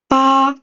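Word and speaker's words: 八: It is ba ba ba. And it happens that in Chinese we have a word really I mean the pronunciation is really close to ba.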